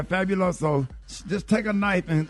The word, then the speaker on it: Fabuloso: uh bottles of of fabulosa did I pronounce it right yeah fabulosa yeah fabuloso just take a knife